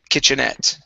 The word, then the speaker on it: kitchenette: here the word is kitchenette the stress is at the very end kitchenette good uh this word